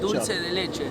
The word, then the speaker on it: dulce de leche: How do you pronounce it? Dulce de leche? Dulce de leche.